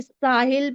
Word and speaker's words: साहिल: सर आगे साहिल पढ़े कि सहली पढ़े? साहिल ही तो है, साहिल।